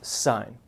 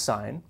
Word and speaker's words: sine: about just one ratio here and that is sine notice here it's spelled with an E and that's the full spelling on your calculator you're going to see a cyan it's still pronounced sine if you want to drive your geometry teacher